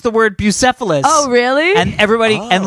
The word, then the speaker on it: Bucephalus: story Alex no matter now because that you mispronounced the word Bucephalus oh really and everybody and like but now people Bocephus that's what it oh yeah so Cephas go Tyson is Bucephalus Oh Alexander the great horse so he had